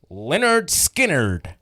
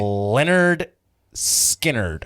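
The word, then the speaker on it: Lynyrd Skynyrd: I went there yesterday to make sure I was pronouncing Leonard Skinnerd correctly. And the guy was just like, Leonard Skinnerd. Really? Leonard Skinnerd.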